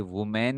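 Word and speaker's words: women: लेकिन ये की ये क्या है, ये वुमेन है।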